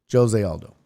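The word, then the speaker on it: José: He's Brazilian, and so you pronounce the J. Jose Aldo.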